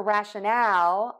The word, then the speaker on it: rationale: of the mouth oh for rationale we're going to open that mouth wide we're going to go for it and really make a true Al sound there at the end Al Al ow really